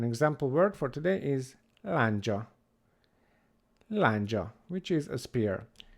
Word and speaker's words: lándzsa: Then we have a consonant which is made up of three different consonants from English, is D, Z, and S. But in Hungarian that's a D and a J. D, J. D, és, J. Together, J. J. J sound.